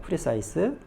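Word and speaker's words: precise: 예 프리라는 단어부터가 볼게요 프리사이스 프리사이스 엑센트 뒤쪽에 있어요 정확한이라고 하기도 하고요 정밀한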